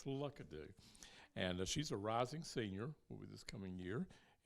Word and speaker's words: Lookadoo: Now we have with us Miss Catherine Lookadoo, and that is the correct pronunciation, right? No, tell me what it is. Lookadoo.